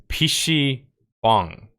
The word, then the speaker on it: PC bang: pronounce it proficiently, because I learned the correct pronunciation. It's PC bang is the pronunciation.